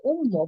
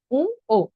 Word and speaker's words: ঙ: ওকে আমরা অনেক উচ্চারণ করি উম্ম বা উম, এটি কিন্তু ভুল উচ্চারণ। আপনারা একটু স্লাইডের দিকে লক্ষ্য রাখবেন। হ্যাঁ, উম্ম আমরা যেটি বলি সেটি হলো ভুল উচ্চারণ। সঠিক উচ্চারণ হবে উ ও, উ ও।